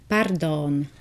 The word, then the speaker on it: pardon: Or you can use the international word pardon, but with a Slovak pronunciation, which is pardon.